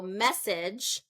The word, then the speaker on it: message: be a syllable so message if I say so first syllable stress is message if I say second